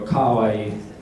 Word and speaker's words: kawaii: So when you go kawaii or kowai, the ka will sometimes go into the schwa-i and become somewhere between an A and an O, so you have to be careful with it. You go kawaii.